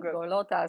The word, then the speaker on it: Golota: People think I'm Italian, so they say Golota. Like, Really? Yeah. I don't know. Well, welcome. I hesitated there for a second. I'm like, uh-oh. No, you said it right. I'm not sure if I'm going to say this right. No, So you awesome. said it right. Awesome. Golota. So the Italian accent actually helped. Yeah. Yeah. It's almost like Cavalli or something like that.